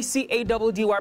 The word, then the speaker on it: Caddy: Your boy C-A-D-D-Y pronounced Caddy, and we're out of here.